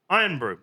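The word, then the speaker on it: Irn-Bru: is not the most popular because everyone loves Iron Bro. It's spelled I R N B RU and this one is called the old and unimproved one.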